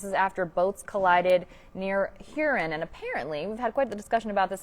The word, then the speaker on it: Huron: wrong i've been saying here on my entire life but if you ask the locals you pronounce it herein so if you're hearing